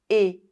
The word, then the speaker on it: et: The final T of a never comes to life with the liaisons. It always remains silent. Et une fille et un garçon.